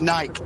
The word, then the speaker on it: Nike: like Livery or Livery how do you say Nike is it Nike or Nike well I'm not on American so it's Nike okay so you're on